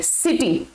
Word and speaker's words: city: इसका एग्जाम्पल अगर हम लें, जैसे CITY, सिटी, आई से एकदम पहले सी है तो ये किटी नहीं होगा, इसको क नहीं बोलेंगे, इसको क्या बोलेंगे? स बोलेंगे, सिटी।